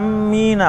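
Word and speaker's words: آمِّينَ: Wala amina, bacanya panjang ya, 6 harokat minimal, kemudian disentak, ditekan ke mimnya.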